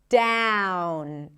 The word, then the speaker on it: down: The vowel is a diff thong just like with the word out. Starts with the a as in cat. So even though it's spelled with an o, it's like a front a sound. Shifting to the oo and ending with an n.